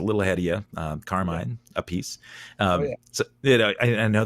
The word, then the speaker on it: Appice: So they settled on Appice.